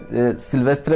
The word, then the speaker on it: sylvestre: सिल्वेस्ट्रा basically is a French word, तो इसकी pronunciation कुछ इस तरह की रहती है, सिल्वेस्ट्रा।